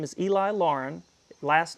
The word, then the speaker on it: Laughrun: My name is Eli Lauren. Last name is spelled L A U G H R U N.